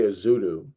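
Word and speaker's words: Joshua Ezeudu: Joshua Izwedu. Is that how you say his name? I've heard people say Izudu and not Izwedu.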